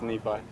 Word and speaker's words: Nephi: how to say it so nephi yep it's nephi is that something that gets mispronounced a lot yeah a lot of people go with yeah kind of roll